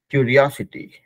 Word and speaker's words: curiosity: करते हैं ठीक है क्यूरियोसिटी क्यूरियोसिटी ठीक है तो देखिए इसका प्रोनाउंसिएशन ऐसे होता है हर कोई प्रोनाउंसिएशन कर लेते हैं इसका क्यूरियोसिटी क्यूरियोसिटी वहां पे क्यूरियोसिटी क्यूरियोसिटी ओ का पे थोड़ा स्ट्रेस है ठीक है तो चलिए